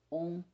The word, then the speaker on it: Om: Om também nunca é pronunciado ou escrito como A-U-M, que é uma interpretação puramente escolástica a fim de acomodar reflexos de especulação metafísica que nada tem a ver com o som mântrico simples.